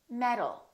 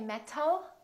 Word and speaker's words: metal: Metal. We don't say metal, we say metal.